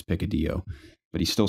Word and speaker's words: picadillo: on the menu but it looked like it says picadillo and my father couldn't determine how to pronounce and I'm like I promise you it's pick a deal but he still said picadillo by accident when the